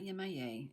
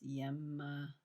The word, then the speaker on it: Yemaya: It's not Yemaya, it's Yemaya.